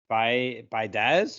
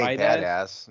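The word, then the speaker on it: Biadasz: brought in Tyler uh by baz I guess you say his name I say his name say badass that's kind of probably what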